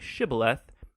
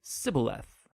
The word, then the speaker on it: shibboleth: It turned out that the Ephraimites had grown up pronouncing that word differently, so instead of saying shibboleth, they would say sibboleth.